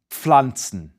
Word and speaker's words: Pflanze: Likewise, the PF in Pflanzen is pronounced just as it's spelled. A P, P, combined with a F, Pf. So it's Pflanze, Pflanze.